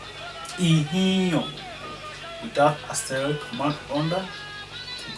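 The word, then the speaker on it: Ihinlon: Ihio, the way it is written, that is not the way it is being pronounced.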